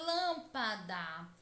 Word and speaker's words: lâmpada: E na palavra lâmpada, qual é a sílaba tônica?